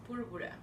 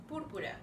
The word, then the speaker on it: púrpura: Púrpura. Purpura. Púrpura.